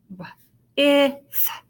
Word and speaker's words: with: TH, the 2 letters, instead of saying t, we make one sound. Th. So we have w, I, th, w, I, th.